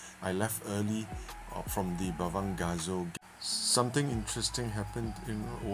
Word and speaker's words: Bavangasso: Anyone looking to stay at this longhouse, Bavangasso, that's how you spell it.